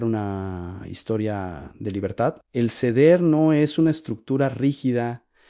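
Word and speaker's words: סדר: Se pronuncia exactamente así, An Seder.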